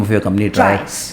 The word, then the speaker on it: TRIACE: So how do you pronounce the name of your company? TRIACE. TRIACE.